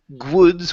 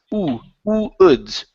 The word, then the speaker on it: woods: Okay, so instead of saying woods with the G sound at the beginning, it's woods. Woods. Good. Listen carefully. You're saying g. Okay, you don't want to say g. It's oo. Okay, just like the oo sound.